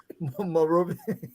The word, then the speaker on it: Monrovia: How you pronounce it? What? Which one? Monrovia.